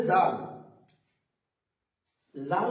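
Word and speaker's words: ذال: দিকটা দিয়ে উচ্চারিত হবে এটুক দাল তারপর আছে জাল জাল উচ্চারণ করার সময় আমরা খেয়াল রাখব জালটা হবে একটু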